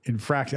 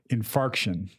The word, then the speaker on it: infarction: Infraction. I have a heart infraction. You know, an infract. Okay. Yeah. Lateral infract. Right. But it's a, it, how do you say it? Infarction. Infarction. It sounds like infart.